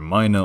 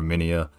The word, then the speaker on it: Minea: you comment on it you can actually pronounce it either Mina or minia it just depends on how you want to say it I'll just stick with Mina for the sake of